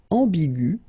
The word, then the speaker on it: ambigu: Another example is ambigu, and it will become ambigu. Okay, so you don't modify the way to pronounce them.